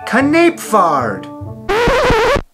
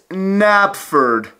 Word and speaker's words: Knapford: Knapfard. It's Napford.